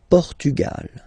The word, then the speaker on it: Portugal: like that open okay pugal Portugal okay don't insist on the final because basically it's not pronounced Lal okay so we